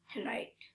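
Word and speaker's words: right: NIGST নাইট, RIGST রাইট। কোনো ওয়ার্ডে IGS থাকলে জি এর উচ্চারণ হয় না।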